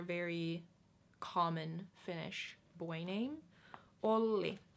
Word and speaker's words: Olli: Finnish boy named Olli it's short just stay on the L for a little bit only not only cuz that was like was it means was Olli versus all only only only so you just stay on the L for a little longer only right and then yo